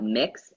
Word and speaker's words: Mx: and additionally we will also be talking about mix MX which is like I am mix lexcorp